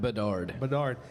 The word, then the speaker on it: Bedard: 2005, Connor, how do you pronounce that? Bedard? Bedard.